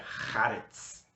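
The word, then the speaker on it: הארץ: a última palavra é Haaretz. Então, tanto tem essa letra cultural no começo, ha, né? Puxa lá de dentro, Haaretz. E no final, o Tzad, que tem esse som. Então fica Haaretz.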